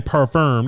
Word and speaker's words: parfum: They don't want to just say eau de parfum. They don't want to just say they want to say eau de parfum. Parfum. The M is silent.